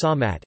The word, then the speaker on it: สามารถ: Thai Samarth, spelled Samarth but pronounced Samat, SMA circumflex T with a silent R and a plain T that is represented using an aspirated consonant.